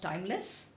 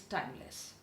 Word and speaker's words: Tymlez: and one is a company called timeless it's spelled as t y m l e z and the other